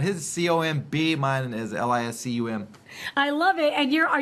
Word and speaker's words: Liscum: It's Liscum, and so a lot of people go, "Hey, are you related to?"